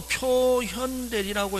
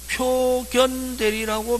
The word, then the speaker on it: 표현대리: 이제 지금은 표현대리라고 읽는데 1970년대 이전에 법과대학 다녔던 아저씨들은 선생님 우리 학교 다닐 때는 표견대리라고 배워서 표견대리라고 해도 관계없습니다.